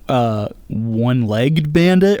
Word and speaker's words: One-Legged Bandit: pronounce your name One-Legged Bandit or One-Legged Bandit? One-legged bandit. One-legged two syllables in the legged.